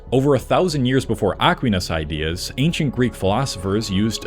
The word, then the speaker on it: Aquinas: Turns out I mispronounced Thomas's last name. It is not Aquinas, it is Aquinas.